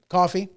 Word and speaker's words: Coffey: flashbang in there andrew kofi coffee coffee like the drink ma'am just not spelled the same the green mile sorry excellent movie anyway andrew coffey flashbang he did not